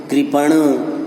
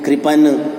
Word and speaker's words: कृपण: ज़्यादातर विद्यार्थी क्या करते हैं कि इन सभी में ण के बदले में न लिख देते हैं। जैसे फिर उसका उच्चारण भी ऋण, कृपन, कृपान इस प्रकार से हो जाता है।